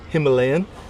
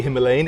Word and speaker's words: Himalayan: So it's the same with the Royal Enfield Himalayan. We say Himalayan, in India they say Himalayan. So we get it wrong.